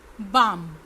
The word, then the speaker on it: balm: balm, balm, इसमें भी L silent है।